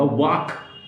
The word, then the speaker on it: walk: वॉक, WALK. एल को लिखा जाएगा, बोला नहीं जाएगा डियर फ्रेंड्स.